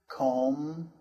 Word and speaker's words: comb: For example, climb, comb, thumb, and bomb. The B is silent there.